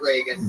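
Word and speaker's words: Regan: r e g n not like Ronald Reagan it's announced like Ronald Reagan Pat Reagan but there's no a in that follow him on Twitter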